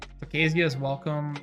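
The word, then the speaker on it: Tocasia's Welcome: It's Tokasia's Welcome, yeah, Tokasia's Welcome, and the Ajani.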